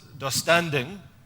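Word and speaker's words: döstädning: Um, it's a particular way of doing cleaning and it's pronounced dustanding.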